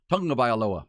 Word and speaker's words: Tagovailoa: When Tua says, "Here's how you pronounce my last name," it's a tongue. It's like tongue. Yeah, Tagovailoa.